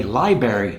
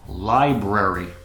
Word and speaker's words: library: Here's a word that's mispronounced very frequently by native speakers who say library from when they were little kids, but it's library.